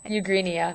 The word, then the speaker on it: Eugenia: Yeah, Eugenia.